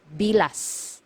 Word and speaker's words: bilas: this one MGA hiala you have to pronounce the letter S at the end because if you mispronounce it nearer to letter T it is actually it actually means the private part of a woman okay so make sure you pronounce the letter s it should be bilas okay next one illegitimate